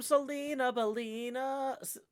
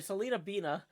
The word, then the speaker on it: Selena Beina: tip rolling in from Selena Bina sorry Selena beina I don't know why I've always put extra syllables in your name selenaa thank you very